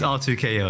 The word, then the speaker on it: R2K-O: It's pronounced R2K-O, you know?